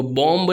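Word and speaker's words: bomb: B एट द एंड, अगर एंड में word के आखिर में M और B साथ में दिखता है तो B साइलेंट होगा। जैसे यहाँ पर देखिए बॉम्ब, तो बॉम्ब नहीं पढ़ेंगे, ओके, इसको बॉम्ब पढ़ेंगे। उसके बाद कॉम, इसमें भी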